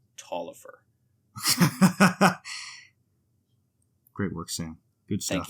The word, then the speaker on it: Taliaferro: on the word egalitarianism um that is actually pronounced talifer great work sam good thank you thank you